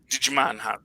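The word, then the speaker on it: Djimon: you digimon hansi um he puts a d in a jack got to pronounce them both digimon the j is silent though um so we're going to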